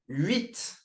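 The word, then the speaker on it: huit: Moving on then to wit.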